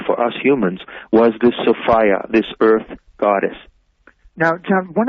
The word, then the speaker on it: Sophia: a mythological being Sophia that's the woman's name Sophia but pronounced Sophia and so fire was